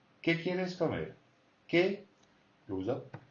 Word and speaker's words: qué: ¿Qué goes up? ¿Qué quieres? So ¿qué? It's got the tonic accent, and mer has got the tonic accent on the other word.